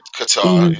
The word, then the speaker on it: Qatar: Qatar. That's how you say it? Qatar. Qatar, yeah.